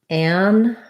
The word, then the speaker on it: an: If I'm just saying these words by themselves, an, ant, an, ant, and ant, I'm going to use the same a vowel in an as in ant. But in connected speech, I'm really not usually saying an apple, for example. I would say it more like an apple. So that vowel gets very reduced.